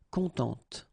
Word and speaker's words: contente: Of course, if you put the feminine form, then you will have to add this and then phonetically it will be a bit different. It will be contente.